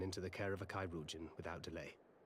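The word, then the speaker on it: chirurgeon: him inside and into the care of a kairujan without delay kairujin how many words have been have I been pronouncing wrong dad nabbit oh we were so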